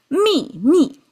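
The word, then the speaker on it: 秘密: mi mi Interesting, right? Same pronunciation. And falling tone. We didn't do any tonal change for the ease of pronunciation, but we insisted on two falling tones.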